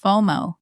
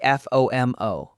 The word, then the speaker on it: FOMO: out, say I have FOMO. Mistake number two, pronouncing it as letters. Don't say F O M O. Say FOMO, one word rhyming with photo.